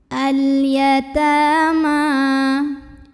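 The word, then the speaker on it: الْيَتَامَىٰ: Ta mad asli atau mad tabi'i karena ada baris fathah tegak di atas huruf ta. Cara membacanya dipanjangkan 2 harokat. Al-yatama.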